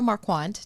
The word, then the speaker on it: Marquart: Marquart, did I pronounce that correctly? It's quart. That's Quart. okay. Mar like Mars, quart like Yes. milk.